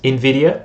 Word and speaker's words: NVIDIA: to you guys about Brent corrected me on how to pronounce this, NVIDIA, right? I was saying NVIDIA.